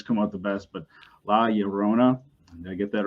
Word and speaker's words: La Llorona: But La Llorona, did I get that right? Yep. All right. So Jorge, go ahead and tell us your story. Well, La Llorona is a Mexican legend that it goes back hundreds of years.